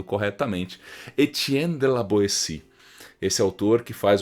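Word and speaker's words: Étienne de La Boétie: que a gente pronuncia-se é que eu tô pronunciando corretamente etienne de la boetie se esse autor que faz uma provocação é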